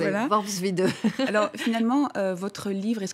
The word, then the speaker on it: Worpswede: J'ai mis des années à le prononcer. Voilà. Worpswede.